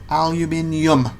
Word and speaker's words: aluminium: Oh my god, there's a U in it. Aluminium.